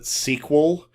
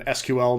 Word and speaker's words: SQL: people will pronounce it SQL. It seems to be a lot of the older crowd use the term SQL, and then SQL, naming out the letters, is a more slightly newer thing.